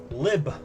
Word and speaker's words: LHB: Lib. That's how you pronounce it.